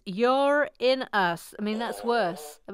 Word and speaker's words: Uranus: voice speaking of Uranus some scientists here are now trying to claim it's pronounced you're in US I mean that's worse